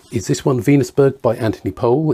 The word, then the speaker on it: Anthony Powell: this one venusburg by anthony pohl it's spelt powell pronounced pole this is his first